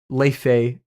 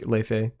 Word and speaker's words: Laufey: Leife, or it's Laufey, but like Leife.